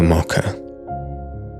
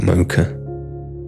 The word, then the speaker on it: mocha: And that is through the gateway of the mocker or the mocha as the Americans say, I believe.